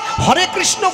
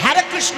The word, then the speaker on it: হরে কৃষ্ণ: আমেরিকার থেকে যারা ইস্কনে এলো, হরে কৃষ্ণ বলতে পারলে হ্যারে কৃষ্ণ, হ্যারে কৃষ্ণ উচ্চারণ হয় না তো, ইংরেজিতে কথা বলে।